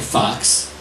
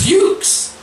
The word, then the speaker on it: Fuchs: Your name isn't Smith, and people are saying Fox. Your name is Fuchs.